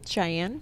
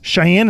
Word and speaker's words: Cheyenne: saying what is it Cheyenne Cheyenne is that I used to pronounce that I believe so X I - a in Cheyenne I think why don't they spell with an SH cuz that would make